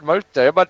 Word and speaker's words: Mol Saibad: Oh, Mole Saibod. Okay, I see. Oh, I see. Well, it's Saibad. Hello, my name is Mol Saibad. It sounds better if you say it like that, not Welsh.